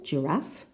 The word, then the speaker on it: giraffe: in number one we have giraffe the second syllable giraffe in number two we have